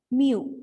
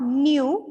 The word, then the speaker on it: mu: Mu. M-E-W. We can pronounce this mu. Not nu, it is mu.